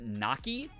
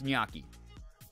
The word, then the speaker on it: gnocchi: who is half Italian says Naki and he yells at her every single time he's like that's not how you say it it's gnocchi so I've learned I've